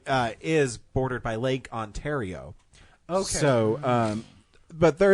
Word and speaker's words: Ontario: Uh we pronounce it Ontario on this side.